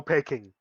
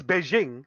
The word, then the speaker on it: Beijing: too like there is there is no pecking you know taking china it's it's beijing it's just that during the times of you know of all the chinese uh immigration all that stuff and or trading they pronounced it wrong and then they're just stuck with it you know even though